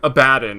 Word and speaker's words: Abaddon: As I have to start saying Abaddon, because that's actually how it's pronounced.